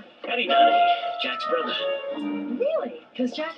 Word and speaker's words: Donaghy: Donaghy name. That's how it's pronounced. Say it. Donaghy.